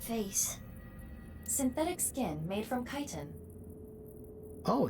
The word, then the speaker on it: chitin: Synthetic skin made from chitin. Oh, it's pronounced chitin.